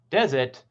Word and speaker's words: desert: a group of people desert on the first syllable is this hot dry place whereas dessert on the second syllable is something we eat after dinner address is the